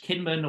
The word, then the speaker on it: Kinmen: So so this island, it's called in English Kinmen, or it's pronounced Jinmen in Chinese.